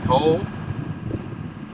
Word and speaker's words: Hoh: We're leaving the Ho. You notice I pronounced it correctly.